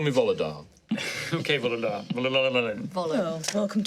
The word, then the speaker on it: Volodar: Now, Volodar Valoren, if you were to say that slower and with all the individual letters, spell it out. It is Volo, V-O-L-O-D-A-R, R-A-L-O-L-E-N. But please, call me Volodar.